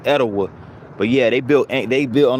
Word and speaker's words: Etowah: Some people pronounce the Southerners pronounce it Etowah, but it's I think the original pronunciation of it is Etowah.